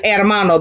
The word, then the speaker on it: hermano: can you do brother el hermano because h is always what silence now let us see